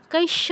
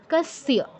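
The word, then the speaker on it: কস্য: তারপর কাস্য, কৈশ্য নয় কিন্তু, কৈশ্য নয়, কাস্য, কাস্য চিদাখ্যাতন, চিদাখ্যাতন তন্মে ব্রূহি পিতামহ।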